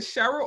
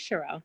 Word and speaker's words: Sherelle: Is it Cheryl or Sherelle? It's Sherelle. You said it right.